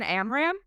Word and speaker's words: Amram: Her name is Megan Amram and she w I don't know if I'm pronouncing her last name correctly.